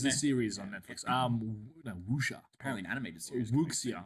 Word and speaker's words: Wuxia: We said Witcher. Like, there's Witcher films? No, there's a series on Netflix. No, Wuxia.